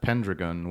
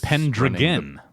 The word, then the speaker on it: Pendragon: Sounds like a kind of like hexagon, Pendragon.